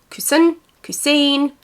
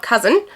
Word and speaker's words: Coussin: Coussin. I can tell you it's not Cousin, but I have heard it pronounced many different ways. So I refer to it as the Coussin bag, but I know that some people also say Coussin.